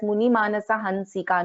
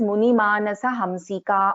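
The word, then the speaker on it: मुनिमानसहंसिका: So here we are not pronouncing as Munimanasa Hansika. No, it is wrong. Here it is Munimanasa Hamsika only.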